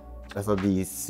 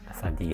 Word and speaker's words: La:Sadie's: 'Après 'Haijin Kurobarazoku', il a rejoint La:Sadie's en hiver en 3e année de lycée.' Se prononce 'La Sadiez' ? C'est 'La Sadies'.